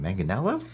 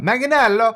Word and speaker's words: Manganiello: I still don't know how to pronounce it. Manganiello? That's usually how I hear it. I'm sure there's a pronunciation in Italian that's like way more complicated. It sounds complicated, man.